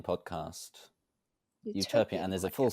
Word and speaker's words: Euterpean: How do I pronounce The it? Euterpean Podcast. Euterpean, and there's a full podcast.